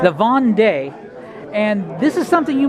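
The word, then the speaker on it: Vendée: of, The War of the How do you pronounce that? Vendee. The Vendee.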